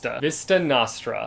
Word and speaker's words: Vista Nostra: I said that kind of questionably, like, am I in the correct in that pronunciation or am I not? Let's look it up. Nostra. Yep, that was off. Vista Nostra.